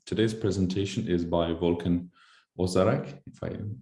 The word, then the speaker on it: Özsaraç: It is Özsaraç, the correct pronunciation, but thank you.